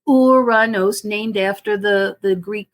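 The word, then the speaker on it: Uranus: loves to joke about that name but it's pronounced uranos named after the the Greek god of of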